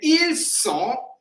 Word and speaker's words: ils sont: So ils ont, mean they have, and ils sont mean they are. So confusion between z and s.